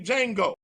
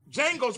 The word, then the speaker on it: Django: have seen the movie Django D capital d j a n g o the D is silent with Jamie Foxx and